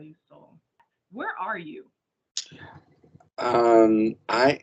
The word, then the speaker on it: Soul: Um first I want to know the correct pronunciation of your name. Soul or Hera? Soul.